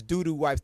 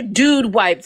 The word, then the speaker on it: Dude Wipes: This is when you use these doo-doo wipes to get a baby oil. Okay. Those are dude wipes, man. You can't pronounce. It's dude. They're dude wipes.